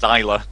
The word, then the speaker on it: ZWLR: His gamer tag spelled ZWLR. Apparently, that's pronounced Zyla. And oh yeah, Zyla. I have no idea how, but you know, there you go.